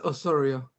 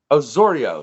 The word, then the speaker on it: Osorio: __ ] up your last name yeah it's Osorio Osorio see look I said it you see okay